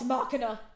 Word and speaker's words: Machina: We're moving on to The Legend of Vox Machina.